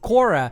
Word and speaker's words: Chora: Actually, is spelled Chora, C-H-O-R-A, but they speak Cora.